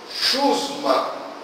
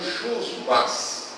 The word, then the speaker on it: chusma: Chusma. Né? No texto que a gente leu, Lição das Trevas, a palavra chusma aparece. Eu mesmo não estava pronunciando chusmas ou chumas.